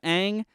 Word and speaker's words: Aang: in this film yeah they say ong instead of aang they say uh uh